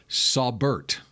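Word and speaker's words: Saubert: r t you according to the Denver Broncos pronunciation guide for him sabert sabert yeah that sounds smart Eric sabert sabert it's it's you I bet it's I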